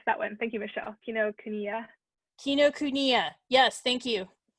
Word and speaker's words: Kinokuniya: Kinokuniya. Kinokuniya. Yes, thank you. It's okay to laugh at how I pronounce it.